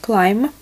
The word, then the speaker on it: climb: Или еще часто говорят climb. Набор высоты. Climb пишется, бэнни на конце не читается.